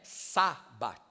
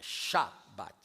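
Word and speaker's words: שבת: Não é Sabat, é Shabat.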